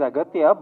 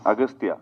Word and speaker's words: Aghathiyaa: It is Aghathiyaa, but in the film, your name is pronounced in different ways. Agasthiyaa. Yeah. In both ways, it is pronounced. Yeah, it's Aghathiyaa and also Agasthiyaa.